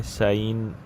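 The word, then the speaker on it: Seine: river जा रहा है इसको बोलते हैं सिन रिवर सीन रिवर कुछ लोग सीन कहते हैं कुछ सीन कहते हैं जो भी आप प्रोनाउंस करें बट ये बर्ड याद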